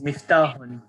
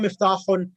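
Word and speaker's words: مفتاح: Key is miftahun. No. Yeah, so Aina? Aina miftahun Not miftahun, without the dhamma tanween. Miftah.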